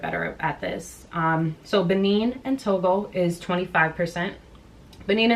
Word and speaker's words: Benin: to thank you to everyone who corrected my pronunciation I read the comments I appreciate that thank you Benin and Togo 25% um basically the range that